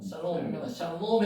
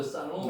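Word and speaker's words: שלום: 쌀 쌀 예 샬롬 해도 되고요. 샬롬 해도 되고 상관없습니다. 시 발음나고요. 아 발음나고 샬롬 샬롬 샬롬 상관없습니다.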